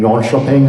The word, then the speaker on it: Jönköping: as a LAN event, PCs in Sweden, and Jönköping is how you say it.